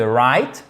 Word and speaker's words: right: trêve de plaisanterie mais vous pouvez penser à Aï ça Aï ça me fait mal c'est exactement le même son que ce petit élément de phonétique que vous retrouvez ici dans le I de right je vous rappelle que